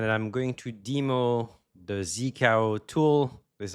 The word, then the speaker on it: zkao: This is and I'm going to demo the Zikao tool. This is how you pronounce it.